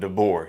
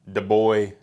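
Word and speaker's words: DeBoer: team to Mr kayn dbor here that's how you say it dor not de Boy de boy dor welcome to the team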